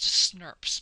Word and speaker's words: snRNP: a mouthful but but they're short abbreviated snrnps and oddly enough this is pronounced snps by people in the field okay there are five